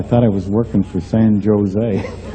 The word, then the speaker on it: San Jose: he said stupid California you don't pronounce a j San Jose well I said I'm